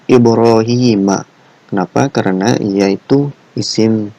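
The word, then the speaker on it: إبراهيمَ: ncan menggunakan plat H jadi bukan dibacanya ada ibrohimi ya melainkan ibroohiima Kenapa karena ia itu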